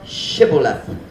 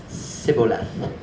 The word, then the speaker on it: Shibboleth: If he said, Nay, then said they unto him, Say now, Shibboleth. And he said, Sibboleth. For he could not frame to pronounce it right.